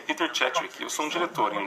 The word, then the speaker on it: Szewczyk: do cins a gente tem aqui hoje Peter CH e é isso mesmo pronunciei certinho o nome dele porque eu perguntei